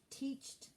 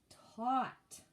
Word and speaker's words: taught: You should be saying Joseph taught. Very good. The past tense of teach is taught. And that would be spelled with an A-U. Okay? T-A-U-G-H-T. Taught.